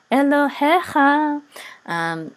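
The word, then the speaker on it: אֱלֹהֶיךָ: So notice the accent is on he. Elohecha.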